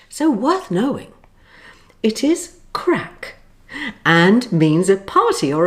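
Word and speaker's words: craic: with this lesson now here's an interesting word that sounds like crack but it's spelt differently it's an irish english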